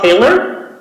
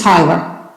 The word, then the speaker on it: Hyler: First hand is Haler. I apologize if I said your last name wrong. Thank you. It's Hyler.